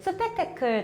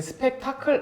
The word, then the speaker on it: 스펙테클: 네, 스펙테클 전역으로 발음 잘하시는데 스펙타클 아니고 스펙테클입니다.